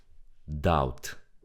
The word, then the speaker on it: doubt: Doubt. The B is silent. We don't read the B. Don't say doubt. We say doubt.